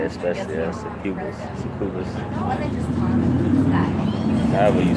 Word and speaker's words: succubus: Say especially succubus.